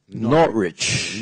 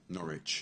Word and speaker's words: Norwich: and this is um not rich Norwich just forget the W yeah again again the W is not pronounced not rich yeah what about this